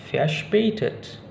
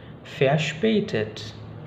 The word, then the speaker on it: verspätet: Berlaku juga pada verspätet, verspätet, gitu ya, verspätet, karena berasal dari kata ver dan spät.